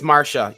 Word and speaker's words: Marcia: It's Marsha. You should know by now. Sorry. Marsha. Different accent. We did pronounce names differently in the world.